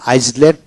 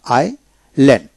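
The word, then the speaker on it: island: তারপর আসেন এস যে আইল্যান্ড। এখানে আইসল্যান্ড নয় আইল্যান্ড। এখানে আই পরে এস উচ্চারণ হবে না।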